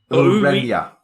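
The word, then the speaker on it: Ureña: How do you pronounce Mandy's surname? Urena? Urenia. Urenia. Urenia, thank you.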